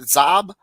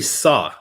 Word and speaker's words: Xob: xob so is it zob no it's actually saw like i saw you running or i saw you yeah the name is